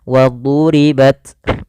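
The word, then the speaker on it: وَضُرِبَتْ: waduriibat nanti huruf Dal tapi dia huruf d wadhu ditebalkan huruf dnya wadribat wadribat Kemudian pada hafal ta sukun ini kita namakan dengan eh huruf yang dia memiliki sifat hams cara membacanya dia dan punya sifat syiddah yang pertama dia syiddah dulu tertahannya Suara Baru dialirkan nafasnya wribat tidak langsung wadribat tidak banyak-banyak dan sifat hamedikit saja kedengaran ada at nafas yang kita keluarkan cukup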